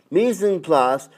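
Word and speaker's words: mise en place: Misen plas is pronounced m e z on uh plas p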